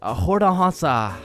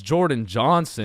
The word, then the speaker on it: Jordan Johnson: Um Hordah Hansa is uh is Hordansa here? Okay. Uh I mean my name is Jordan Johnson.